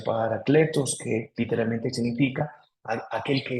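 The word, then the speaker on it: Parakletos: Por eso también es llamado el Paráclito, que es una palabra griega que significa Paracletos, o se pronuncia Paracletos, que literalmente significa aquel que es invocado.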